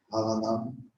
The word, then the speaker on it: Varanam: Donc, Varanam, c'est la prononciation, c'est entre le B et le V.